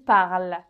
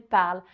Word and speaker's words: parle: parlez et il elle parle il elle parle alors attention avec il elle parle il ne faut pas prononcer cette terminaison en fait aucune lettre il elle parle est-ce